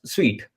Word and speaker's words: Sui: I found this particular wallet, Sweet wallet, a Sweet wallet, Suit. It's pronounced as Sweet.